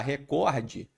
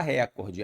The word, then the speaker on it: recorde: Como, por exemplo, em vez de falar recorde, a rapaziada fala recorde. Aí isso é uma silabada.